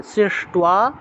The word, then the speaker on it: সৃষ্ট্বা: তারপরে সহ যজ্ঞ, জ আছে উচ্চারণ হবে য়, সহ যজ্ঞ প্রজা সৃষ্টা, প্রজা সৃষ্টা, শ্রেষ্ঠ সৃষ্ট্বা, টয়ের নিচে বফলা, তাহলে টুয়া উচ্চারণ হবে সৃষ্ট্বা, পুরুবাচ প্রজাপতি, বিসর্গ থাকায় হ উচ্চারণ প্রজাপতি।